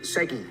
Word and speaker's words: SEGI: Check out, did I say it right, Segi or CG? Segi. Segi, thank you.